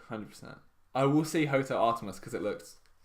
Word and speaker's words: Artemis: my excitement on Hotel Artimus. Yeah. Am I saying it right? Artemis. Fuck. Without the C.